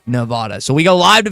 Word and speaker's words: Nevada: first round games in Las Vegas, Nevada, as the locals say, not Nevada. They get mad if you say Nevada.